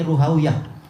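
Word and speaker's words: Rahawayh: bahasa khurasan maka apa bukan rohaw tapi ruhawiah rohawiahoh demikian pula yang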